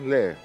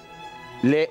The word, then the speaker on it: Lee: Berners lee. Le, ¿qué leía? No sé si se pronuncia Le o Lee. No, Lee. Lee.